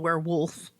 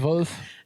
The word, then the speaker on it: Werwolf: It's called Werewolf. Okay. And not werewolf how we spell it here in America, but the German way. So, I'm really excited because it's Werwolf?